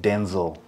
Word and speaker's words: Denzel: And I saw a video the other day where he was saying his name is actually pronounced Denzel. Oh, Denzel. Oh, Denzel. But along the way, it just became Denzel.